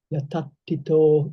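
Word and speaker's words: yatthaṭṭhito: Would you just like to do this yetapito with the dental, make it with emphasis on the dental and the retroflex and the t sounds?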